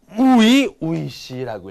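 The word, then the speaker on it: 初々しい: 여러분들 아마 또 처음인데 요거는 우이우이 씨라고 읽어요 우이 우이씨이 초자를 우라고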